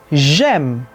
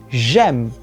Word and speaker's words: j'ai: A gente tem uma tendência a pronunciar esse é mais aberto quando queremos falar da primeira pessoa. Mas, na verdade, se a gente falar o é mais aberto, a gente vai estar traduzindo, conjugando o verbo ter.